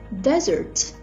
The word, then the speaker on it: desert: matter of syllable stress desert with only one s and with the stress of the first syllable is a noun and refers to a